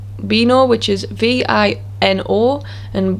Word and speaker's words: vino: v into this because b and v are identical in sound they both make the b sound the ba sound for example the words bino which means wine and the word baka which